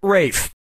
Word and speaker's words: Ralph: two yep RAF Fine's first name is spelled like Ralph but pronounced Rafe and his brother Joseph